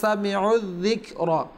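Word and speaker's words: سَمِعُوا الذِّكْرَ: সামিউ একটা শব্দ রয়েছে, তারপরে ওয়াও রয়েছে, এখানে এক আলিফ টান হওয়ার কথা, কিন্তু যেহেতু প্রথম হরফে সাকিন, দ্বিতীয় হরফে তাসদিদ একটা নিয়ম রয়েছে, তাহলে সাকিন হরফকে বাদ দিয়ে তাসদিদ রয়েছে সেটাকে উচ্চারণ করতে হয়। তো সামিউয যিকরা আইন গিয়ে জালকে ধরে নিবে, আইনকে জালকে উচ্চারণ করে নেবে, যার কারণে সামিউ আর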